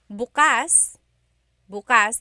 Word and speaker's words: bukas: pronunciation if you say Bas buas the emphasis is on the second syllable that means open if you say buas buas emphasis is on the first syllable that means tomorrow very interesting like oh